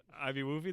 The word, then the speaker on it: IBWUFY: Ivy Woofy, that's how you say it?